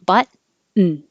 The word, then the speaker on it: button: 32, we don't say the T at all. We make a N as its own syllable. Put the tongue in the T position, button.